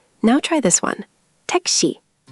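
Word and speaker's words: 택시: Tek-shi.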